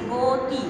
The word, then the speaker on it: গতি: যেমন গতি, আমি গতি না বলে বলছি গতি ওকার দিয়ে, গরু না বলে আমি বলছি গরু ওকার দিয়ে।